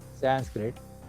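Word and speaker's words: संस्कृतम्: Samskrutam is the actual word, but Samskruta they will call, and they made it Sanskrit, particularly English speaking people.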